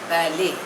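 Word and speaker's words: ballet: over the world would be levied add इंफिनिटम next word is बैले spelling is बी ए एल एल ई टी बट the pronunciation is बैले इट इज अ French word it इज अ form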